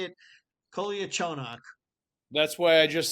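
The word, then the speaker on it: Kolyachonok: I can say it, Koliachonok.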